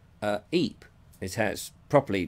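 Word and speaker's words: Ypres: they would see it and see it was wipers isn't it wipers so hence the wipers times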